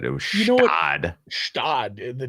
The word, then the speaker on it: Gstaad: I believe it's Stad. Stad. Stad. We'll see about GSTAAD. The Is it spelled like the Alpine town?